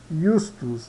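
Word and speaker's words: iustus: Ianua, Iecur, Iecur e Justus, Justus, tá? Então sempre quando tiver um J é I, tá?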